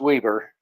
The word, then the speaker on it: Weber: the Weber County Sheriff's um website yep it's pronounced Weber oh sorry I I do believe when I